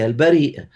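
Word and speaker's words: Al-Bāriʾ: Donc d'ailleurs un des sens du nom divin al bar hein euh il y a une il y a une prononciation possible qui est al bari que Allah il est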